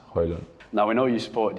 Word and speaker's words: Højlund: But the correct pronunciation is Højlund.